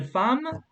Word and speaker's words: femme: Is une femme. So femme is like F-A-M in English, okay? Femme. Femme. Like, Femme. voilà. Femme. So, is une femme.